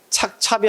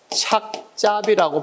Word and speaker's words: 착잡하다: 착잡하다 이렇게 하는데 틀려 착찹이 아니라 착잡이라고 발음해야 된다 알겠지 착잡하다 착잡하다 그래야지 착찹하다이